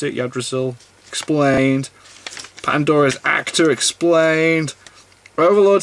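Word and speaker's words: Yggdrasil: the world of odd result because our we pronounce it your Drasil explained Pandora's actor explained overload season 3 changes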